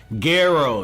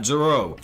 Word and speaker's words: Guerrero: which as a reminder i am saying the name correct is guerrero not jerome jerome's incorrect pronunciation the dub changed that